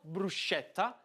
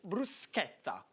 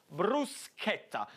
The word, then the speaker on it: bruschetta: It's not bruschetta, but it's bruschetta. What you want to put the accent on is the sk, bruschetta.